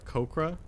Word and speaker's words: Aarakocra: I was looking at the phonetics. There is not an H.